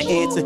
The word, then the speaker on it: answer: don't answer you know the W is silent answer you just missed that